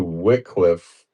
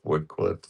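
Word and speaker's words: Wycliffe: Let's take it back to Wickliffe in the year 1395. Well, you might want to pronounce it Wcliffe. wood cliff. Pick your cliff. I don't care.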